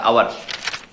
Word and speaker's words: hour: ফর অ্যান আওয়ার, খেয়াল করো, HOUR, আওয়ার, ঘন্টা। তো আওয়ার এইচ দ্বারা শুরু, কিন্তু উচ্চারণটা কি? আওয়ার, ও থেকে শুরু, তাই না?